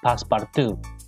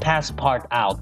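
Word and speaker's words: Passepartout: also her stream on passpartout yes that's how you say it not past part out i've been uh i've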